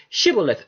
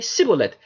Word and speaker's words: Shibboleth: It says they would tell the Ephraimite, say Shibboleth, and he would say Sibboleth, for he could not frame to pronounce it right.